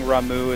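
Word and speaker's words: Ramuh: If you guys catch me mispronouncing Ramu as Rama, I need to give everyone in chat, I don't know, 5 sure points.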